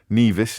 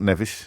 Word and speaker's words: Nevis: not exclusively from the I pronounce Nevis wrong my apologies Nevis not Nevis Nevis is a mountain in Scotland uh it might be